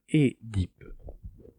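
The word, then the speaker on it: Œdipe: Donc, par contre, quelle est la prononciation exacte du mot Oedipe? Alors, le mieux, ce serait de dire Édipe. D'accord.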